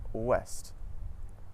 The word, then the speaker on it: ouest: OU at the start of the syllable makes a W sound, just like in the words woman and west. Some French examples of this are oui and ouest.